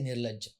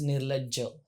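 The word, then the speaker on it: निर्लज्ज: Like in Hindi, it will go Nirlaj. Yeah. It's Nirlajja. Like you have to Pronounce pronounce every the single. in it too. So that's why it sounds very harsh.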